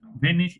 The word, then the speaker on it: wenn: ভেন, ভেন, Wenn, sorry, এটা এখনো ভেন, ঠিক হচ্ছে না। ঠিক আছে। Wenn বলেন।